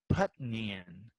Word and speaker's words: Peniel: Now, in your Bible, it may spell that Peniel, which doesn't sound like that at all. But I looked it up, and in the Hebrew, the way they say it is Putnian. Doesn't make any sense to